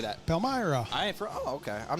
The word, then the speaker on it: Palmyra: Palmyra.